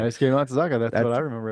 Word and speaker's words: Daisuke Matsuzaka: Daisuke Matsuzaka.